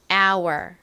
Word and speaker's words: hour: 들어가는데요 어떤 알파벳이 있죠 h입니다가 있으나 히 소리는 나지 않아요 그리고 뒷부분은 우 소리 나는 이중 모음인 에다가 are 소리 나는 알파벳 R이 와요 그래서 are our 이렇게 발음이 됩니다 our are our 따라해